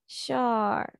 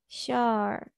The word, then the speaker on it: sure: এটা কিন্তু শিওর কেউ বলবা না ঠিক আছে শিওর বলবা শর ওকে শর আরটা উচ্চারণ হবে না কিন্তু শিওর হ্যাঁ আর